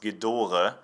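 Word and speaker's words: Gedore: their names actually mean if you have a wrench saying what you would read maybe as j'adore orchid or is actually pronounced Ghidorah and it stands for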